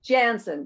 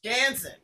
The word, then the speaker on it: Janzen: How do you pronounce it? Janzen? Janzen, yes. Janzen, from Canada.